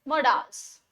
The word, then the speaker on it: modals: नया topic, that is मोडाल्स। कुछ लोग इसको मॉडल्स बोलते हैं, कुछ मोडाल्स बोलते हैं। मैं प्रेफर करती हूँ मोडाल्स को, ताकि हमें थोड़ा सा डिफरेंस पता लग जाए मॉडल्स और मोडाल्स में।